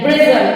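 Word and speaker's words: bristle: हो जाता है जैसे बी आर आई एच टी एल ई ब्रिजल ब्रिजल मीस होता है दांत यहां पर टी जो है टी का प्रशन नहीं हो रहा है फिर है सी ए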